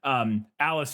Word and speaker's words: Aelis: have to remind myself it's Alice because it's spelled in old timey language. It's Aelis, which I assume is where Alice comes from, probably, but it looks like A-list or something. But anyways, Alice, who is one of